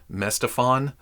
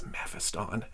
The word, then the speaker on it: Mephiston: it in a short I don't remember what I said originally mestophon I think it was messed upon that's mephiston and I may still be